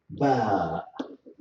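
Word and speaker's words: باء: It is easy to pronounce it, as you see, by pushing the two by making the two lips meet for short time and in a strong way.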